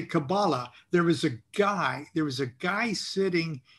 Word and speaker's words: Qabalah: You don't even say Qabalah correctly. It is Qabalah."